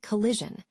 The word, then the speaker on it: collision: First, we have the short I sound, which is found in words like collision. This sound is quick and relaxed, almost like a brief flicker in your speech.